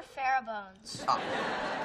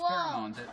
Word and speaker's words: pheromones: that was the and what are pharaoh bones that one i know and it's pronounced pheromones never mind well well